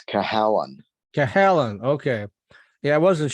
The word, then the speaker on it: Cahalane: Is it Callahan? It's Cahalane.